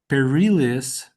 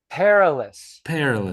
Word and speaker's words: perilous: Merryweather Lewis and William Clark on a perilious perilous. Perilous.